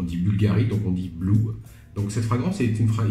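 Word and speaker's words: BVLGARI BLV: Alors vous pouvez lire BLV, mais ça se prononce Blue.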